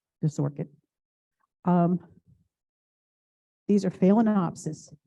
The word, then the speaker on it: phalaenopsis: orchid um these are phalaenopsis p h a l a e n o p s i s philanopsis but when you pronounce it the first part you say fail f-a-i-l and what you do